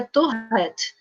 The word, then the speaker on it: Tourette: Então, a pronúncia correta é Tourette, porque vem do francês.